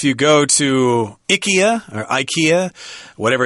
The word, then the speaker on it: IKEA: want you to know the proper pronunciation for that store that sells Furniture you put together is Ikea not eeka be careful okay whatever